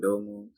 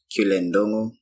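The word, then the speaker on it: Ndung'u: Okay, my name is Cullen, Ndun'gu. What? I've been saying this the wrong way. Nah, it's not wrong. Some people pronounce it the way you do, but mine is pronounced Cullen Ndun'gu.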